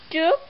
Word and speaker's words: trước: Okay, because this way a little bit difficult, so I will spell it. Cờ ướt, trờ ướt trước, sắc trước. So this word will be trước.